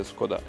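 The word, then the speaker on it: Škoda: I said we have the scoda ANC or the scod as they pronounce it in Czech Republic it's uh the 60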